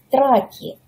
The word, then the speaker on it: траки: Болгары это произносят как траки.